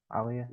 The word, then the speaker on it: Aliyah: Tiffany Stratton Champa and Elia is that how you say her name Alia yeah Aaliyah well Bob road is